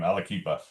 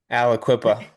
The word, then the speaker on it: Aliquippa: My first one's going to be in I'm looking at Ambridge, and I can never pronounce his name, Alaquipa. Aliquippa. Alaquipa.